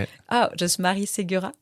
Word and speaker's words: Marie Segura: Oh, just Marie Segura. Marie Segura.